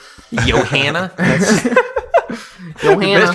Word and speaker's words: Johanna: I need to redo this video if I was pronouncing it Joanna. Johanna.